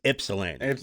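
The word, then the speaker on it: Ypsilanti: It's Ipsellani. You don't pronounce the Y. The Y is an I.psili. Ipsilani.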